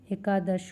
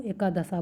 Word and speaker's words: एकादश: स्वर लोप हम लोग स्वरों का लोप कर देते हैं बोलने में, जैसे कि एकादश को एकादशा बोल देते हैं, यानी एकादश होना चाहिए पर बोल देते हैं एकादशा।